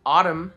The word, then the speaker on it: autumn: Silent N. Autumn, but we just say fall.